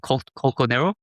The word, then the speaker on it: colchonero: How do you pronounce that? Colchonero?